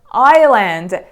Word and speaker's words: island: word number 16 is Island the letter s here is silent and you know it